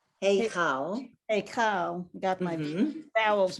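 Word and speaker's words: היכל: el ha, hakel, Hey, okay, that chaf, hakel, heichal.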